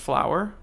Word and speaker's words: FLAOWR: If any of you guys want to add me on Xbox, my gamer tag is FLAOWR, and it's pronounced flower.